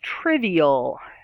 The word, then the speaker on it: trivial: here number nine is trivial trivial trivial is three syllables stress on the first third triv e all again there's that schwa that sound triv e o trivial is a word